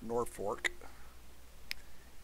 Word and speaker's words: Norfolk: have a norfolk garrison norfolk militia or if you live in nebraska that's pronounced nor fork yeah um they did